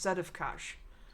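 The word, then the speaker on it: Sedefkar: sites that i listened to it was it's pronounced set of kash that of course okay and then simulacrum simulacrum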